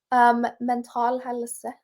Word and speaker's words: Mental Helse: I don't, how do I pronounce that word? Mental helse.